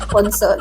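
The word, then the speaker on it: nuno sa punso: Punso. No, punso. It's a tongue twister. The Nuno Sapunsu is supposedly a dwarf-like creature, right?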